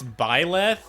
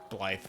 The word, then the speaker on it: Byleth: because it's Byleth, which is like what? Byleth. That's Bleth. too many syllables. I say Beleth. I say Blythe because it's wrong.